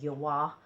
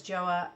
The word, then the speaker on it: JOAH: at cvs pharmacy and i believe that's actually pronounced yawah but you'll know it as joa at cvs and these are the